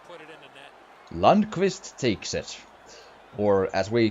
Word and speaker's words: Lundqvist: Lundqvist takes it. Or as we pronounce it, Lundqvist.